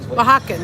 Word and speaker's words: Oaxacan: Oaxacan. That's it. You gotta get Anthony for proper pronunciations.